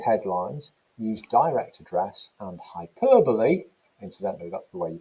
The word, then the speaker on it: hyperbole: some examples both headlines use direct address and hyperbole incidentally that's the way you pronounce it not hyperbole hyperbole to suggest the supposed weakness of women's